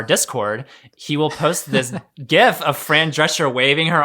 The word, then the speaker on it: GIF: Is it GIF or GIF? Who cares? It's one of those. Definitely it's a GIF. Okay, I'll say GIF. Hard G.